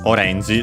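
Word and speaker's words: オレンジ: And yeah, it's actually orangey. So not like in English technically, because it would be orange. While in Japanese it's on the re, orangey, so be careful.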